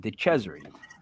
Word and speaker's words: DeCesare: Yes, I say it correctly. I'm Italian. DeCesare.